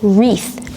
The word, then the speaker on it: wreath: a wreath in English a wreath with a silent wa3 is a decoration that